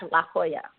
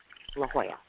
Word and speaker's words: LaJoya: not how you say the name, but it's pronounced LaJoya. LaJoya.